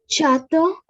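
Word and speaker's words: château: Okay, and finally, there are these group of letters AU or EAU. We simply pronounce it as O with rounded lips.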